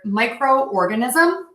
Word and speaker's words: microorganism: on this next word microorganism it's almost like you're just splitting this in two parts micro organism micro organism